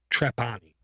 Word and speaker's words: Trapani: Todo.txt is a Gina Trapani.